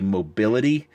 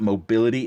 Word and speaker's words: Mobilly: I always spell that out because I have a tendency to say mobility, and it's not mobility, it's mobili gates.